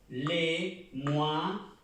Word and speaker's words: les mois: Les mois. La O y la I suena UA, la S no se pronuncia.